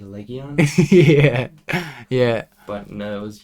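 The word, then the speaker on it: Legian: It's spelt Legion, but it's definitely Legion.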